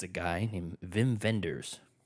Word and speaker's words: Wim Wenders: it's a guy named Vim venders Vim vendors it's spelled Wim Wenders yeah yeah but he's